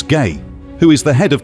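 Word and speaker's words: Gey: These samples were sent to Dr. George Gay, pronounced as Gay, who is the head of tissue culture research at Johns Hopkins.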